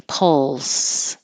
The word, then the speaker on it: pulse: hold a grudge pulse I put this weird LPL LS because I I want you to think of it as putting your tongue in the L position first and then making the P pull pull and then the S but keep the air flow going so that you you don't stop it and have a t sound in there like pulse it should be pulse the L has constant air flow and the S has